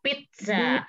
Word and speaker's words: Pizza: Kalau cep ini dibacanya ke T, kayak seperti itu, tes sa ya. Jadi kalau misalnya ada pizza, jadi dibacanya itu agak ke sedikit pizza.